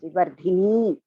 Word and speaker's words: Vivardhini: When you say Vivardhini, okay, it should be all the Digas should be pronounced as it is. Vivardhini.